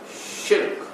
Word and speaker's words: shirk: The pronunciation of the word is shirk, which is one syllable. Don't make it two.